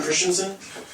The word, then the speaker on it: Christensen: My name is Christensen. My last name is Danish. It's spelled the Danish way, but it's pronounced the normal way.